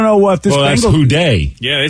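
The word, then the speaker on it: Who Dey: Oh, well, and he's saying Who Day? Yep. Yeah, it's a Bengals thing. Yeah, and Day is spelled Dey.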